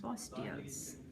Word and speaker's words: Bosteels: Am I pronouncing your name right? Bosteels. Bosteels.